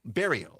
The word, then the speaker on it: Bario: Bario. All right, that's easy. So like Barry with an O on the end.